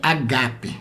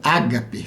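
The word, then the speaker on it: ἀγάπη: A pronúncia certa é agape, tá bom? O acento é no segundo alfa. A palavra A, que a gente conhece como ágape, tem 2 alfas, 2 letras A, por assim dizer, né?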